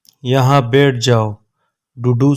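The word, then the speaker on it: duduk: डूडू सिनी। डूडू सिनी के साइलेंट है।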